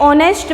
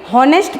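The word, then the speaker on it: honest: इसको हम कैसे पढ़ेंगे? हॉनेस्ट पढ़ेंगे? नो। कैसे पढ़ेंगे? ऑनेस्ट। कैसे पढ़ेंगे? ऑनेस्ट। और इस ऑनेस्ट मैन के अंदर साउंड ओ आता है जो कि वोवेल है।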